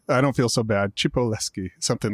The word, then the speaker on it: Cipolleschi: My last name is Chipolesi, but it's pretty hard. Even in Italy, they sometime mispronounce it. So, okay. All right. I don't feel so bad. Chipoleski, something like that.